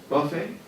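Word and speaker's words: Buffett: water on warren buffet how do you pronounce his last name buffet perfect it's the same spelling though right uh you know he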